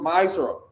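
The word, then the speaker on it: מעשר: verses 8 to 10 means 10th in the hebrew and it's pronounced mysore 10 of every penny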